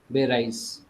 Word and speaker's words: Erdbeereis: So there's a small knacklout here between R and E, between these two. Don't pronounce it as Erdbeer and then rice. Okay. It's Erdbeer was one word, and then comes your Ice.